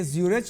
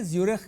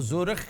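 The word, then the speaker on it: Zürich: ایک چیز بتائیں یہ زیورچ ہے یہ زیورخ ہے جو اس کا تلفظ ہے نا وہ زورخ خے کے ساتھ ہے لیکن سپیلنگ CH ہے.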